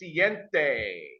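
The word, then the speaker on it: siete: In Spanish, it's pronounced siente.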